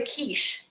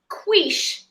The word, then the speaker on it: quiche: the pie crust for the kiche not the quish the key I laugh so hard